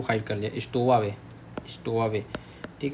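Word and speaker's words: stowaway: डब्ल्यू ए डब्ल्यू ए वे हो जाएगा पीछे स्टोवावे क्या बोलो स्टोवा वे एस टी ओ डब्ल्यू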